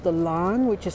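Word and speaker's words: Lahn: river that it's situated on is called the Lan which is spelled l a hn and it flows from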